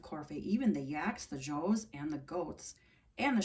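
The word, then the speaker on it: dzo: the children of Corfe, even the yaks, the joes, and the goats, and the sheep, all marched together to our new school.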